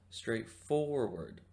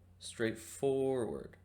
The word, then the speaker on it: straightforward: think the stress goes the stress goes on the second syllable four so the work is pronounced straightforward straightforward great now that we